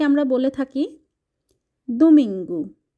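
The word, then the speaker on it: domingo: কে আমরা বলে থাকি দুমিঙ্গু ও থাকলে উচ্চারণটা এখানে রাস্যুকার দিয়ে হয়ে থাকে দুমিং গু আবারো বলছি সানডে অর্থাৎ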